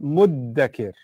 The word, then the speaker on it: مُدَّكِر: But then there's, even the dhal is hard to pronounce because you have to stick your tongue out. So what's the easiest version of it? Muddakir. Muddakir. So the dhal becomes a dal.